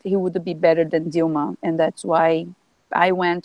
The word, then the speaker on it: Dilma: There's the last president impeached in 2016, Dilma Rousseff, or is her name pronounced Dilma or Yeah, Dilma? Okay, so Dilma, yeah, Dilma.